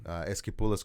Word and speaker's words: Esquipulas: Esquipulas.